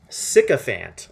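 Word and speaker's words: sycophant: I need to know how this word is pronounced. Sycopant. sickopant.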